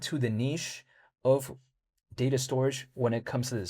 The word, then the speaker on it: Storj: Take a look at, let's say in the case of Storj, or should I say storage, but it's spelled s t o r j.